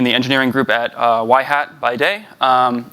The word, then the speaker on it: Yhat: work at in the Engineering Group at uh why Hat by day um it's pronounced why hat not y not why hat